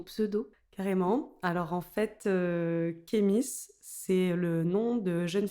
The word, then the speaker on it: Khemis: Ça se dit Ahmis, Ok. en vrai, mais tout le monde prononce Kémis, voire il y a même des gens qui disent Kémi.